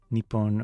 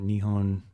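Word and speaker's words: 日本: Nepon or Nihon are two pronunciations of the same kanji. Uh both meaning Japan translated land of the rising sun. Generally Nihon is used in everyday context while nepon is often used in formal settings and during sporting events.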